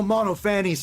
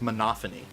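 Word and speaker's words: Monophanie: dumb ass it's all mono fanny's fault she passed them out before checking the name i forgot her name's pronounced monophony boy i know monte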